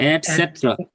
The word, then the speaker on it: etc.: এট, etc. না Et- এটসেট্রা। etc. এটা বলতে হবে এরকম ভাবে, আমরা ইটিসি বলি না, Mhm. যে ইটিসি, এট, Mm.